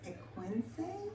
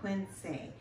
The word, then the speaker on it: Equense: And we are in a town called, I believe it's pronounced Equense? Yes, something like that. Equense.